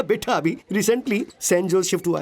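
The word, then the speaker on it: Sanjose: O sorry sorry sorry sorry sorry सनोजे एस ए एन जे ओ एस ई इसकी spelling यही है ना? लेकिन इसमें जे साइलेंट रहता है। इसलिए इसे सैनोजे बोलते हैं।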